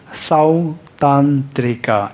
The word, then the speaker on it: Sautantrika: Number 2, Sautantrika. Sautantrika. Sautantrika. Number 2. Number 3, Chittamatra. Chittamatra. Chittamatra. Even to pronounce it is quite technical, right?